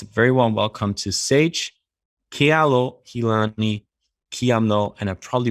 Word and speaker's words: Ke'alohilani Quiamno: Very warm welcome to Sage Ke'alohilani Quiamno, and I probably butchered the name. I'm going to say it again. Welcome to Sage Ke'alohilani Quiamno.